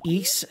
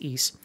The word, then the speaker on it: Ys: Rage Robo Trek the East series The Ys I believe it's pronounced East uh shenmue 2 and